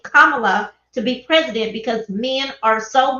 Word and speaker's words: Kamala: This is some of the reason men don't want Kamala, 3 syllables only, Kamala, to be president, because so many men are used to a woman bowing down, a woman not speaking her mind.